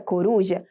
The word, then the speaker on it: coruja: A palavra coruja possui 3 sílabas e a sua sílaba tônica é a sílaba ru, ou seja, a penúltima sílaba, e por isso ela é classificada como paroxítona.